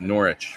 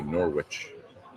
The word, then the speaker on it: Norwich: yeah yeah brilliant Norwich gig last night it's pronounced norch for you folks out there that aren't here get in trouble if you say Norwich hey thank you so much Mike it was